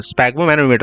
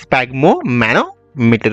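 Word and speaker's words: sphygmomanometer: स्पैगमो मैनोमीटर बोलते हैं। हम क्या बोलते हैं? स्पैगम्मो मैनोमीटर बोलते हैं।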